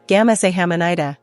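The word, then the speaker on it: 감사합니다: The answer is gam-sa-HAM-ni-da. Here's everything you learned today. Wow, you've just unlocked the secrets to K-pop level pronunciation.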